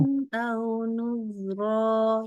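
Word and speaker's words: عُذْرًا أَوْ نُذْرًا: Oke, tapi ron ke au-nya jangan putus. Jangan ron. Au. Sambung. Ron. Au. Ayo. Uzron au nuzra. Udah bagus, tapi masih mutus-mutus. Ayo, bacanya lebih lembut lagi. Uzron au nuzra. Aku contohin satu kali ya. Nah, Ustazah. Uzron au nuzro. Jadi jangan putus-putus.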